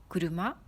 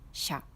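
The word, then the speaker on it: 車: Ce kanji signifie une voiture et ça se prononce kuruma ou sha.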